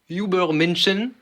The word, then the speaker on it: Übermensch: J'ai dit Übermenschen. Übermensch. Ah putain, je l'ai mal prononcé, je l'ai prononcé à l'anglaise, c'est ça?